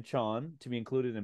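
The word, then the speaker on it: Chaon: was chosen by Dan Chone John John I just saw on his Twitter that he tells us how to pronounce it Dan Chan to be included in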